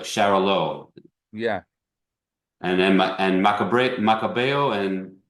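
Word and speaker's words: Xarel·lo: Xarel low, like Charolo.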